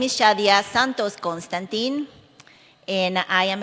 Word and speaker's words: Shadia: Is it how you pronounce that right? Shadia.